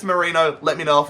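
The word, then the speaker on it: Merino: I know it's Mikel Marino, but I've been saying Moreno. Apparently it's Marino.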